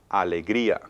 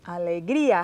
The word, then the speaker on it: alegría: La siguiente palabra es alegría. Alegría, happiness. Okay. Alegría. Okay. Again, alegría. Now divide it Alegría. into syllables.